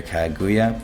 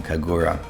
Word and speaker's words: Kagura: To do that, your DPS will have to be a higher speed than your Kaguya, but oops, keep saying her name wrong, Kagura.